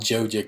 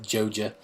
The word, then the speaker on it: Joja: And I forgot all about Joja Cola. That's how you pronounce it, right? Joja. That's what I say.